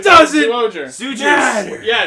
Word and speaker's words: Zyuohger: It was spelled with a Z. We chose It to call it doesn't Zyuohger. Zuger. Yeah, it's Zuger. Zuger. Though with TV Nihon subs, they did call it Jew-Oger.